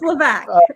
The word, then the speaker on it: Levesque: It's Levesque, and it's all right. I go by whatever sounds similar. Levesque. So S is silent.